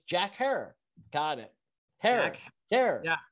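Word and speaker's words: Jack Herer: was doing it correctly all this time i've been calling him jack herrera and it's jack hair got it haircut there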